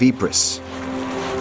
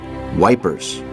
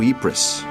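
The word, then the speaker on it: Ypres: old Belgian city of epris a word unpronouncable to most of the British privates who made it generally known as wipers the name became another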